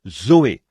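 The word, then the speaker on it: ζωή: sert du même mot que l'on prononce Zoé Z o e Zoé la vie et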